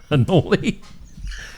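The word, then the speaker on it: Anole: Anoli. A N O L E. That's how it's spelled. It's anal.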